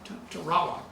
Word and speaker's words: Tarawa: And you went by train there through a jungle, and then you came to, how do you pronounce that? Tarawa? Tarawa.